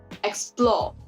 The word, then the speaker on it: explore: poetry is written so take for example the word explore the stress is on the second syllable explore on this floor whereas you can also